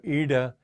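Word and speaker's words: iḍā: under the eye and the way to pronounce that that D with the dot and there is you have your tongue at the back and push it forward so Eda and pingala anyway it's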